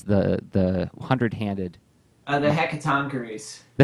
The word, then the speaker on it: Hecatoncheires: instance uh help me out with the the pronunciation of these guys the the hundred-handed uh the heck of tonkaris the hecatoncheires thank you i tried looking a great word